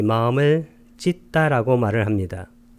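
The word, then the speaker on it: citta: 이 찢다라고 발음하는 것은 여기 C자는 쌍지읒으로 발음하고 찢다 할 때 T자가 두 개가 있는데 앞에 T자는 받침으로 쓰고 뒤에 있는 T자 하나는 쌍디귿으로 표기합니다. 그래서 찢다라는 표현이 됩니다.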